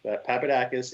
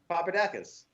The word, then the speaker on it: Papadakis: So I'm stepping into the existing Corolla that Papadakis and Osbo campaigned for the last 2 years.